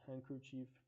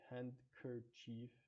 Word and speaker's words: handkerchief: We have word handkerchief. We don't say the N D K sounds as whole. We don't say hand kerchief.